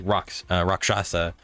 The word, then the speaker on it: Rakshasa: Arya, you would know that they are, depending on the Rakshasa, or Rakshasa.